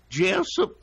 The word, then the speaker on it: Jessup: Jeff oh yes that's how you have to pronounce it Jessop there you go good job but yeah it's